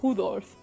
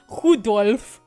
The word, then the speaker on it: Rudolf: Anyway, this guy's name is pronounced Rudolph. Rudolph.